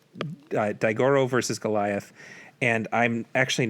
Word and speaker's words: Daigoro: My friend James helped me out with the pronunciation, so here I go. The Japanese title is Kaiju, Daifusen, Daigoro, Tai Gorashu.